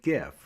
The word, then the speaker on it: GIF: visuals is to net an animated gif or Jif depending on how you like to pronounce it if you're not sure